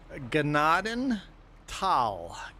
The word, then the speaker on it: Gnadenthal: Gennady and not thal. Tal get rid of the H. Lose the H. Not tall, but tall. It's not Nadenthal. It is Gennaden Tal.